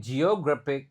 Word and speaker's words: geographic: Oke, geographic. Nah, cuma ini ada pengecualian langsung. Jadi, G yang pertama dibaca J, G yang kedua dibaca G.